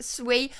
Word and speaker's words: Sui: is a small amount Jerome said sui is pronounced sui I was wondering that when I was saying